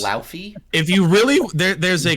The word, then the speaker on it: Laufey: There's a clip when she was on the Graham Norton show that if you really want to try to say it in proper Icelandic, you can.